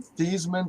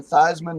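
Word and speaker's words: Theismann: that Joe Joe Theisman changed his name from thievesman to Theisman to rhyme with Heisman yep he definitely did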